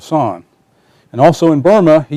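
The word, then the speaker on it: San: on the planet and kept calling her middle name Yan instead of son and also in Burma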